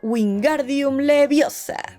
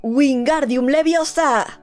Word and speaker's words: Wingardium Leviosa: Segundo, hay que pronunciar el conjuro clara y correctamente. Por ejemplo, wingardium leviosa y no wingardium leviosa.